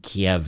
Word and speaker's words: Kyiv: And Kyiv, I believe, is how the Ukrainians pronounce it, and Kiev is how the Russians pronounce it.